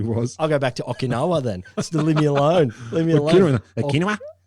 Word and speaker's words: Okinawa: flying the east coast okinawa is often what i've heard is the is the american pronunciation that's what hippies say i've spoken to a japanese gentleman once who corrected me to be okinwa i've never heard it